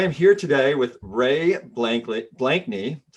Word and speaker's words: Blakney: So I am here today with Ray Blakney. That's how you say it, right? Blakney. Yeah. I'm known for my worst pronunciations.